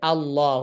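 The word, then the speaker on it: الله: অতএব আমরা সহজে বোঝার চেষ্টা করি যে আল্লাহ শব্দকে এক সিঙ্গেল বা এককভাবে পড়তে হলে আমাদেরকে পড়তে হবে এভাবে, যে আল্লাহ, অর্থাৎ ফাতহা দিয়ে শুরুতে হামজার মতো উচ্চারণ করে আল্লাহ শব্দকে মিলাতে হবে।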